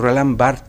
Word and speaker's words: Roland Barthes: roll ámbar death por roland barthes perdón es la pronunciación correcta no es martes se escribe bart espera se pronuncia roland barthes en la derecha dice